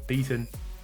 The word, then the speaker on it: Beaton: So Beaton, big fan of that.